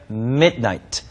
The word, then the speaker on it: midnight: 말로서 미나이 한 단어고 미드나이트 드 발음이 거의 발음이 안 되고요 midn midn 이렇게 발음하시면 됩니다 그니까 또 줌이라 했으니까